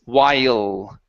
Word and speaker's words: while: Give me an L at the end instead of wow with an oo. It's while. While.